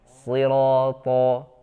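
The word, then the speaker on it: صراط: Selanjutnya huruf to ya. To seperti shad ya, suaranya tertahan di antara lidah dengan langit-langit atas. Sirata, to ya.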